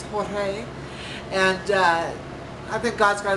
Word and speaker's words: Jorge: And this Pope, his name is pronounced George, in his native Italian it's Jorge, and I think God's got a sense of humor, like harlot that rides the beast.